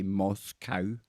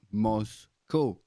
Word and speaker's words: Moscow: I know that you guys over in America like to say Moscow because it looks like cow on the end, right? COW. But I'm going to let you into a little secret, right? We pronounce that in Europe as co, like Moscow.